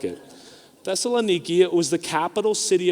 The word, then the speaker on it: Thessaloniki: And I know like some of you have heard that pronounced Thessalonica, but I was going over this with Jim Platt, and I said Thessalonica, and he said, that's not the way you say it. I was like, all right, Jim, how do you say it? And he said Thessaloniki.